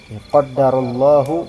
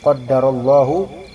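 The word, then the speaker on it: قدر الله: tetapi katakanlahak Katakanlah qahu qaddarallahu ya lafalnya kayak gitu qaddarallahu ya dengan ada tasdid untuk Dal qdarallahu W faal kayak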